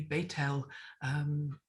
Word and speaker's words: Bethel: they'll talk about bethlehem we talk about bethel house of god but it would be betel which is house of